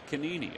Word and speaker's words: Canini: And Julia, we're just assuming that the G is silent. We apologize if it's not. That's a good way to pronounce an Italian name.